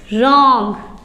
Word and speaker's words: wrong: और वो है कि अगर W और R एक साथ स्पेलिंग में हो तो वहाँ W साइलेंट रहेगा। एग्जाम्पल्स हैं WRONG। तो आप इसे क्या पढ़ोगे, रॉन्ग। W को नहीं पढ़ना है।